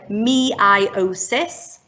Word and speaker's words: meiosis: Now you might want to start thinking about how you're going to remember this, and we like to call it meiosis, meiosis, and that's because it's spelled E-I-O in the middle.